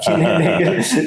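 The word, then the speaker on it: Kuehne + Nagel: I looked up the pronunciation. Kine Nagel makes about 30 billion.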